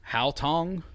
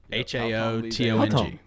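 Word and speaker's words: Haotong: How do you spell it? I can't see it. Hao Tong. Hao Tong H-A-O-T-O-N. Yep, H-A-O-T-O-N-G. Hao Tong.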